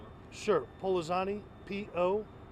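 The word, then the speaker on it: Pollozani: Can you say your last name again, please, and spell it? Sure. Polizani, P-O-L-L-O-Z-A-N-I.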